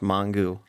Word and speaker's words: Mongeau: you say Mong well I like read it differently than I pronounce it I don't know when I read it out it's like should be pronounced mongu no like French yeah people always I